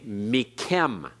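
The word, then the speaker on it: מִכֶּם: Notice the dogish in the kaf. Even though we would have a vowel immediately preceding it, this is a doubling dogish because it is compensating for the assimilated noon of the min preposition. Therefore, it's as though it were mik with a kaf and a silent schwa, and then kem with a kaf and a sigol. So it's actually duplicating the kaf.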